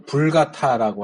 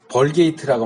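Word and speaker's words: Vulgata: 하나 있고 하는데 이제 이 불가타라고 하는 이제 벌게이트라고 많이 말하긴 해요. 이제 영어식으로 읽어서 벌게이트라고 하는데 이 라틴어 이름으로 하면 불가타가 발음이 맞아요.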